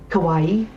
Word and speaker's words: kawaii: Kawaii. Like Hawaii but with a K.